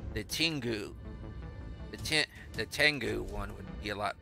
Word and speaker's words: Tengu: there we put the tingu here I know it's tangu but I go tingu for some reason that's the way I've always pronounced it but I know it's Tengu yeah black carapace so